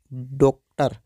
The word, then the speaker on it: डॉक्टर: किया जाता है, अर्थात तब हम इसको ओ का उच्चारण करते हैं। ज़्यादातर इसका प्रयोग अंग्रेजी भाषा में किया जाता है। जैसे कि आप देख सकते हैं कि यहाँ पर जो डा है, डा के ऊपर यह चिन्ह लगा हुआ है, अर्थात यह जो चिन्ह है, इस चिन्ह का विशेष ध्वनि के रूप में उच्चारण किया जाएगा, अर्थात हम इसको डो, डॉक्टर ऐसे करके हम इसका उच्चारण करते हैं।